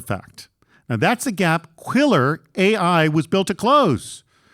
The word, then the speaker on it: Quilr: just monitoring it, check out Quiller AI at Quiller.ai. Let me spell that out for you.